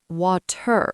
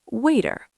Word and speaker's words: water: Say water. Waiter. Not water with a hard t. It's waiter.